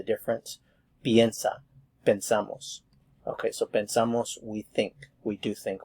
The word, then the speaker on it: pensamos: And of course this affects the pronunciation because the sound here is e. Pensamos, pensamos.